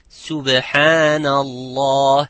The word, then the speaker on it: Subhanallah: Like some would say, I hear some of my students saying, Subhanallah, it's Subhanallah. It is not Sub, it's Subhanallah. The other example is the